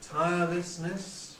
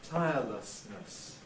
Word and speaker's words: tirelessness: One pronunciation, tirelessness, with lessness, tirelessness. But another, and perhaps now the more usual one, is with tirelessness, tirelessness. Both are correct, but we seem to be gradually moving from one to the other.